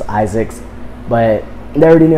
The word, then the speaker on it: Izix: pronounce my name because it's spelled iix which is just Isaac's but they already knew